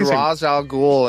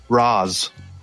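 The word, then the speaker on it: Ra's al Ghul: let him apparently but did they say roz and uh batman begins i'm not sure i bet he said raj al ghul in in batman the animated series i can almost get it yeah because that's probably where i got it from where does talia come in in your note i remember because it has the same name as uh frazier's sidekick on on the sitcom frasier roz all right yeah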